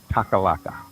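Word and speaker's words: Takhlakh: It's actually spelled just kind of like that, Taklakh, and I believe you pronounce it Takalaka.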